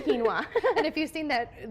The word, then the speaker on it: quinoa: that but it actually it sounds like quoa but then it's quinoa and if you've seen